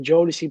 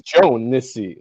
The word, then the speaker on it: Jodeci: maybe not my entire life, but when did Jodeci even start? Jodeci started in like '91. Well, how do you pronounce it? Jodeci. Jodeci? I Jod. thought it was Joe-Nissi.